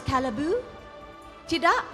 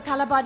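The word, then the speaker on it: Callebaut: I'm going to look at our friends at Calabat or you can also pronounce as calibu tid. Oh, it's wrong. So YouTube is wrong. So it's so calabad is right because I use a lot of calabat in my baking.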